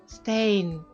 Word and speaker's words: staying: Зверніть увагу на слово staying, закінчення in. Буква G заувальовується, приглушується наприкінці. Stain.